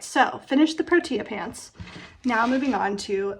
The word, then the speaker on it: protea: It's not protea, it's protea.